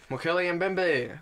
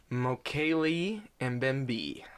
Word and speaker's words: Mokele Mbembe: So today we are talking about the Mokele Mbembe. Yeah. Mbembe. Yay. I've been informed is incorrect. Oh. It's supposedly pronounced Mokele Mbembe.